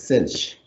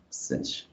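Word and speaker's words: sinh: up with this pronunciation a lot of mathematicians pronounce this as kosh which makes sense but then this one is cinch cinch why is that cinch i don't know what that's what my professor said so whatever right okay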